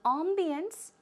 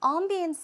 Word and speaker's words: ambience: I say ambience. It's closer to the French pronunciation, but closer to the American pronunciation. A lot of people say ambience, okay? So both are possible, ambience or ambience.